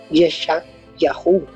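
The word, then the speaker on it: ישעיהו: El tercer nombre tenemos la palabra Isaías, pero mira cómo se dice Isaías en hebreo, se dice Yeshayahu.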